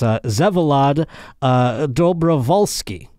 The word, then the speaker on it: Vsevolod Dobrovolskyi: And you know, it's I'm going to find out when we have him on, but I believe to pronounce this gentleman's name, it's Vsevolod Dobrovolskyi.